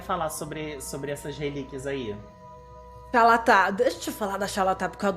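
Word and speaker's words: Xal'atath: Como pronuncia, amigo, o nome dessa arma? Xalatá.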